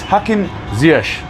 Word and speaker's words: Hakim Ziyech: Which is why this debate about Hakim Ziyech, Zip, all the different pronunciations, but it's Hakim Ziyech, where the Arabic transliteration into English is somewhere between an E and an A sound, which is why he